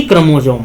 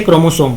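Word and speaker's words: chromosome: है ना, क्रोमोजोम पर, क्रोमोसोम या जोम भी बोलते हैं, तो इसलिए आप प्रोनाउंसिएशन अपना अकॉर्डिंग देख लीजिए, उसे क्रोमोसोम बोला जाता है, पर अपनी स्थिति बदलते रहते हैं।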